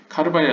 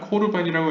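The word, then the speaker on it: קרבן: 결론은 과정을 생략하고 결론은 카르반이라 써있지만 코르반이라고 읽는 게 더 적절하다라고 생각하시면 되고요.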